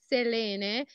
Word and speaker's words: Selena: say wrong clearly name the correct pronunciation is Selena is a Greek name and means moon Wow yeah nice yeah